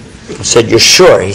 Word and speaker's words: Isa: His name in Hebrew is pronounced Isha or Yeshua, and it's Isa in Arabic. And the reason for that is because the difference between Hebrew and Arabic on this point is Sin and Shin are reversed.